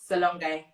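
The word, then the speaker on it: S'Alongé: so many okay and you've got salonga designs i'm not pronouncing that correctly yeah yeah yeah yeah you are yeah awesome so what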